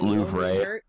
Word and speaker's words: Louvre: Actually pronounced Louvre.